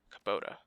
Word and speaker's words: Kubota: Kabuto says you're a fixer. Kubota. I keep saying it wrong.